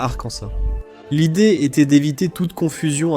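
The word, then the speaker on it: Arkansas: Mais l'État a officialisé que c'est Arcansa, pas Arcansa.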